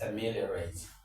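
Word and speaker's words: ameliorate: Of course you know when you have a word end in rat t most of the time the stress falls on the third syllable from the back.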